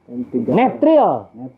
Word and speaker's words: N3L: Netril. Apa itu Pak? N3L teh Ya. N3L. Iya. Dibacanya N, tiganya tri. Pakai L. Netril.